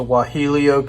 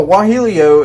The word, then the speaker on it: guajillo: Okay, also traditionally, they would use a guajillo pepper, spelled with a G, of course.